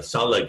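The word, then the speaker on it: Tsalagi: couple of you uh salah is how they would have said who they were it's spelled roughly t-s-a-l-a-g-i because they don't have the ch sound or the r sound just as english doesn't really have the ts sound which other languages do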